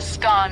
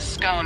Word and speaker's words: scone: Both scone rhyming with gone and scone rhyming with bone are accepted pronunciations, though regional variations exist.